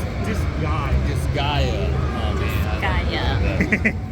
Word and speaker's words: Disgaea: How do you pronounce it? Disgaea.